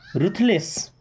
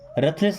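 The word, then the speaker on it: ruthless: रुथलेस, रथलेस नहीं रुथलेस, रुथलेस का मतलब होता है निर्दयी, जिसके अंदर दया नहीं होती है, क्या बोलते हैं, रुथलेस।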